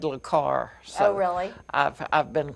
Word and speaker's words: le Carré: He's right up there with John le Carré as far as I'm concerned. I'm glad you pronounced that because I would have said le Carré.